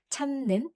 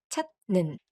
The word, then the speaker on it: 찾는: In 찾는, because it is followed by n, the t sound changes to an n sound. That's why it is pronounced 찾는 instead of 찾는.